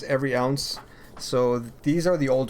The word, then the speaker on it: EvryOz: Alright, so the name of the company, for those that don't know, is Every Ounce. A lot of people pronounce it as Evryoz, but it's not Oz, it's ounce. So it's Every Ounce Clothing, and the reason